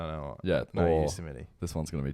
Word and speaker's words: Yosemite: Yosemite, people say. Yosemite. Yeah. So that's a national park in America. Yeah. So that's the 3rd most mispronounced. I think of it like Yosemite Sam from the Looney Tunes.